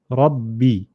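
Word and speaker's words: ربي: Shadda, we said, means that there's two letters. The first is got a sukun. So imagine you joining a ra to the ba with a sukun, rab, and then it's also got a haraka, b, rabbi.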